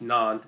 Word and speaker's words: Nantes: was called the Edict of Nantes, and it's pronounced Nantes, but it's spelled Nantes, Edict of Nantes.